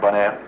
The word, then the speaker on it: Bonaire: You know, bon, good, air, Bonaire.